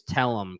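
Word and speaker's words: Tellem: Yeah, we just need to find out more about the Mentalics and what their powers are, and how strong is Tellum.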